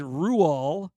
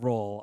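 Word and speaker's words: Roald: If you're his like wife in the 50s or his mother you might pronounce it ru which is the norwegian way of saying it but we're going with roll on this.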